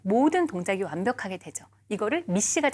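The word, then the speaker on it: MECE: 그래서 MEC인데요. 읽을 때는 미시라고 읽으시면 돼요.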